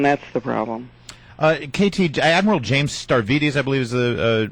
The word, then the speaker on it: Stavridis: KT, Admiral James Stavridis, I believe is the pronunciation.